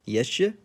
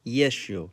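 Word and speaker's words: ещё: How do you think it's pronounced? Yeshe? Nope. Try yesho.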